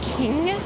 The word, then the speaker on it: Qing: around 1847 in the King Dynasty I'm not sure if that's how you pronounce it it's q i n g oh Ching Dynasty um and it